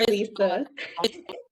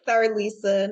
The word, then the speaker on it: Cerlisa: please correct me if I state your first name wrong. So we have Cerlisa Collins on with us. Not your Cerlisa. It's Cerlisa, no problem.